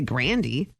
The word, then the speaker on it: Grande: It's like Ariana Grande is actually Grandy.